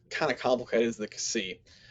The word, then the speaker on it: xi: of complicated is the c he puts here the x in axiom so it's sort of a blend together of those two sounds so from you you